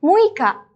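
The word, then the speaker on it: むいか: Tanggal 6, muika.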